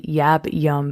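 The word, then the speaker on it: yab-yum: want to do this practice ideally in a yab yum position so that's spelled y y-a-b-y-u-m and well this is a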